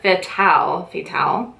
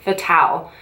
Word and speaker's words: Fatale: It's called Femme Fatale. Fatal. No, that's not fatal. Fatale.